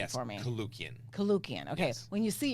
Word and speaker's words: Koulloukian: be interviewing and you have to pronounce your last name for me kukan kukan okay when you see you're like what